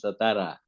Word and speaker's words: Satara: satara to leave in satara actually the pronunciation is satara not satara not sat so Baba had it